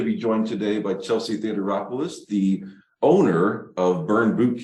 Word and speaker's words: Theodoropoulos: are excited to be joined today by Chelsea theateropolis the owner of burn boot camp St Louis